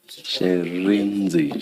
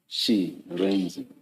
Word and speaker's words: Shirindzi: Sherenzi. Thank you. Can you please say it again so that we get it right? Sherenzi? Sherenzi. Sherenzi, Chairperson, Sherenzi. She, yes. Sherenzi. She, Re, and then Nzi. Sherenzi.